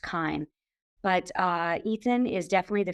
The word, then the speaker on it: CHIME: It's pronounced Chyme.